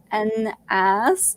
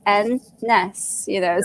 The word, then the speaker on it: Annas: I mean, it does because it's like Anna with an S, so people end up saying Annas, and I'm like, oh no. I was like, no, think of the letter N and the letter S. You pronounce those two letters, it's N-ness, so it just makes it a whole lot easier when I explain it like that.